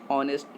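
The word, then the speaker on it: honest: h का जो खुद का साउंड हो वो साइलेंट हो तो उसके बिफोर, उसके पहले n का प्रयोग होता है। जैसे ऑनेस्ट मैन, इसको हम लोग हॉनेस्ट मैन तो नहीं पढ़ेंगे ना, h का जो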